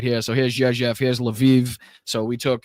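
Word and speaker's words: Rzeszów: So here's Jezef. I know it doesn't sound like it's it's pronounced like that, but that is how it's pronounced.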